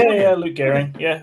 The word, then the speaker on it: Luke Gearing: Luke Garing. Yeah, it's it's Yeah, it's it is exactly how you'd expect.